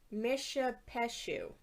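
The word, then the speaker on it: Mishipeshu: the second coin is the pronunciation says it's misha peshu mission mission yes you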